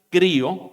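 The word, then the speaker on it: χρίω: Que se pronuncia crío, que significa ungir.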